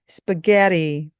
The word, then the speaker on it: spaghetti: spaghetti, spaghetti.